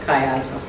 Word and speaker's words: miasma: that's the phonetic translation so high as in sky and asthma because the ice isn't pronounced miasma let's look at some